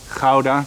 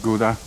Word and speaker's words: Gouda: Yeah, it's pronounced Gouda, not Gouda.